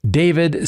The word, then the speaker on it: d4vd: The vehicle was registered to David Anthony Burke, uh, professionally known as the 20-year-old singer David, spelled with a four.